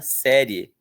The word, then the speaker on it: série: Porque pense que originalmente essa palavra era pronunciada série. Então, que que você está vendo agora? Estou vendo uma série. Série. OK. Só que aí esses dois sons foram se misturando e acabou que hoje em dia a grande maioria das pessoas não pronuncia mais de tongo quando fala essa palavra. As pessoas muitas vezes falam série. Tô vendo uma série como se eu tivesse uma vogal só.